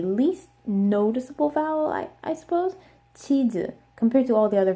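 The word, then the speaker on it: 치즈: It also has the Z sound, but they don't because it's cheese, that's a Z sound at the end. They don't have that sound. So they use the J sound.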